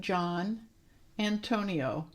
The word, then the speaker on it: Giannantonio: So it's John, it's the Italian spelling of John, Antonio. It scares people to look at my name because it has so many letters that people go, ah! So I just thought maybe I would mention that it's pronounced John Antonio.